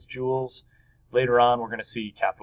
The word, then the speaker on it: joule: here and it's pronounced jewels kind of like jewels like a pirate would have in his pirate chef but not obviously written